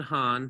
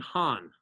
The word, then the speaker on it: Han: Shang, Zhou, Qin, Han, Sui, Tang, Song, Yuan, Ming, Qing, Mao, Zedong.